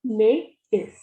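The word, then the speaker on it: maïs: But here, if we have tréma on a, it will be may is. May is, because we have to pronounce it separately.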